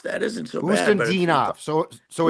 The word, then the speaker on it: Khusnutdinov: Khusnutdinov. Khusnutdinov.